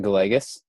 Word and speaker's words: Gallegos: about my last night that's funny we actually pronounce it go legis my grandpa was adopted in from he is